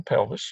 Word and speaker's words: pelvis: Kayla sees this is a renal pelvis rhymes with Elvis and this is a